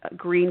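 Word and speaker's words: Gruene: I remember I worked at a restaurant um it's in was called Green Texas. It's spelled G R U E N E.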